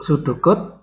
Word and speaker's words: pseudocode: Ya, jadi cara bacanya yang paling gampang adalah P-nya dihilangkan. Ya, jadi P-nya nggak usah dibaca, jadi pseudocode.